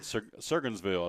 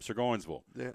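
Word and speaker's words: Sevierville: way what was that he said surville I said nope sirville put the emphas on the second syllable oh he what about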